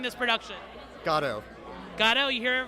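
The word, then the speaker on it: Godot: How are we pronouncing this production? Gatto.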